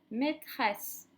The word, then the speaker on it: maîtresse: Une sucette, un verre, une marelle, maîtresse, reine. Comment est-ce qu'il se prononce ce E qui est suivi de deux consonnes et d'un E? Eh bien, il se prononce est.